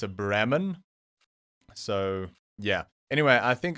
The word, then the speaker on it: Brahman: lot so i i'm i'm probably gonna pronounce this bremen and the reason is the only way i know to pronounce this cow the species of cow is in my native my home language and we say brahman so these are very